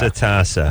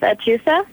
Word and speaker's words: Atusa: What kind of name is Atasa? That's what I wanted to know. Be prepared. It's Persian, and it's pronounced Atusa. Atusa.